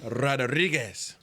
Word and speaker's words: Rodriguez: You gotta roll your R's. Ready to go? Rodriguez.